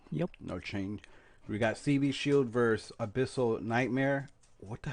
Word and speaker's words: CB Shield: That's how you say it, CB Shield.